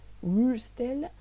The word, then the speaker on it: Würstel: O W a gente pronuncia como se fosse um V. Então não é Würstel, mas é Würstel, ok?